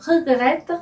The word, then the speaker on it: regrette: 단어 발음을 regrette 이렇게 발음합니다.